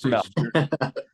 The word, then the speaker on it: Jermell: It's Jermell. Jermell. Because he has a twin brother who's Jermall.